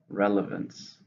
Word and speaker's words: relevance: it's an uncomfortable Mound three syllables stress in the first relevance what relevance does that